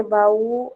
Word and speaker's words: baú: Porque baú é um hiato. É. Perfeito. Ba, u, né?